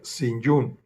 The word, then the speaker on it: St. John: Se escribe Saint John, pero se pronuncia St. John.